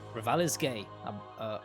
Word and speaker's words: Revali's Gale: That's how it's pronounced, okay? Revali's Gale.